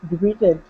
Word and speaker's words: debuted: In 1983, Michael Jackson debuted his signature dance move, the moonwalk. Good. So even though this looks like debuted, it's actually pronounced debuted. Debuted. So it's a silent T.